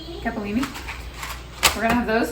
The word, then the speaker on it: capellini: I have this really thin capalini. Is that how you say it? Capellini.